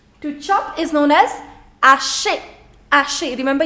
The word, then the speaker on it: hacher: To chop is known as hacher, hacher. Remember, you don't pronounce the letter H in French, so it's not hacher, c'est hacher, hacher.